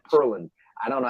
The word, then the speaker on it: Pearland: Texas earlier today and I said Pearland and he totally pronounced it differently he didn't call me on it but it's like purlin I don't know how